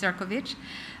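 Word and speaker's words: Šefčovič: On the margins, I met with the EU Commissioner for Trade, Marko Serkovic, yes, spelled Sefcovic, pronounced Serkovich, which were very helpful.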